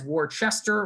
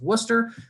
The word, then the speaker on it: Worcester: course is worcester so i know that looks like it says warchester or warcester i promise you it's pronounced worcester and we are a